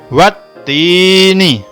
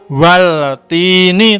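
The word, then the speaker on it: والتين: Nah, itu kan ada huruf alif lamnya, tapi itu juga tidak dibaca, jadi bacanya langsung ya, wattini, wattini, tidak waltini, tapi langsung wattini.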